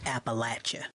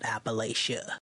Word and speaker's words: Appalachia: mean to be rude but it's pronounced Appalachia not Appalachia all right and the